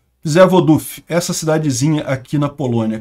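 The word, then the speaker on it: Przewodów: responsabilizo tá gente mas segundo dizem é psod duf que se pronuncia isso daqui repara que é próxima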